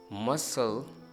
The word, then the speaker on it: muscle: नो, ये है ही silent. ascend, fascinate, muscle, scene.